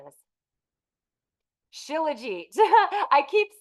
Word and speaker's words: Shilajit: I have to see what the actual pronunciation is. Shilajit.